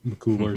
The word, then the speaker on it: McCullar: But that game was played without Kevin McCullar, I think McCullar is how you say his last name.